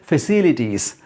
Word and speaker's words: facilities: So remember that the stress is on second syllable here and there. Amenities and facilities.